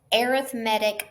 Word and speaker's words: arithmetic: So arithmetic sequences, that is how you pronounce this.